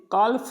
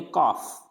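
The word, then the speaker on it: calf: पहले आ जाता है, जैसे काल्फ नहीं पढ़ेंगे, इसको पढ़ेंगे काफ, हाफ, काफ, हाफ, यानी L को नहीं प्रोनाउंस करेंगे।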